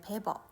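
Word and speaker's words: Weber: 베버 이거는 독일어에서는 얘를 W를 V 발음을 한다네. 그래서 ver 뭐 이렇게 발음을 한대요.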